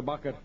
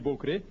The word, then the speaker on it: Bokre: Bakre. That's right, the correct pronunciation is Hemji Bokre.